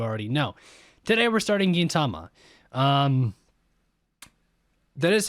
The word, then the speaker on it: Gintama: suspense because you already know today we're starting Gintama that is how it's pronounced right Gintama I'm pretty sure to tell you pronounce it